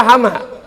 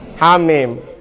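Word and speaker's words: حم: Bacanya Hamim apa Hama? Hamim.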